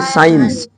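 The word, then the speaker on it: science: सी कहां साइलेंट रहेगा यदि सी के पहले एस हो तब वहां सी साइलेंट रहेगा सी के पहले एस हो जैसे एस सी आई ई एन सी ई इसको बोलेंगे साइंस साइंस मींस विज्ञान है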